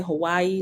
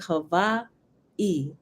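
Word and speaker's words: Hawaiʻi: um Hawaii right and some people say Hawaii like is one word and it's not when you come you will see there's an apostrophe that breaks up the two eyes like Hava e right it's h a w a i apostrophe I and they enunciated here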